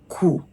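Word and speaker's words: kù: Well, depending on how it is written, if it is written this way, it is pronounced "ku". "do" "ku" "ku" "Ku" means what is left.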